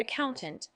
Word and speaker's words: accountant: Let's explore the word accountant and how to use it effectively in your exam. Word type. Accountant is a noun. It's pronounced as tunt with the stress on the second syllable.